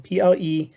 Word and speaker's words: Pleiades: So the Pleiades, it's spelled Pleiades, I'll say that again, Pleiades.